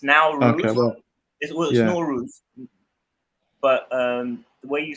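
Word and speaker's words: Nowruz: is that where it says in Iran it's now rules but um the way you spell it is probably the way you can see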